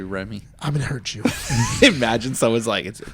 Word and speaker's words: Ramy: Ramy. Ramy. It's actually Remy.